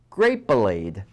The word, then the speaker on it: Grapelade: he developed and advertised grape blade rhymes with marmalade from Concord grapes and